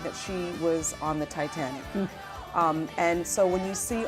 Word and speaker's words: Titanique: Titanic, Yes.